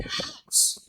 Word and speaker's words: house: In house. The first letter is H in house, and you have to pronounce it.